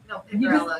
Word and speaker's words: Picariello: No, Picarello, you're just not saying. You just Say say the aye.